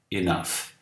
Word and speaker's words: enough: GH, quando pronunciado, tem som de F. Enough.